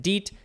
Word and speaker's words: DEET: e so it's d-e-t but for some reason we pronounce it DEET and we spell it DEET maybe they didn't